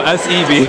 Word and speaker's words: Seb: No, S-E-B.